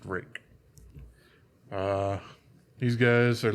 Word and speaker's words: Ruike: Also, some people will probably read it as Ruike or Ruike, but it's apparently pronounced Rake.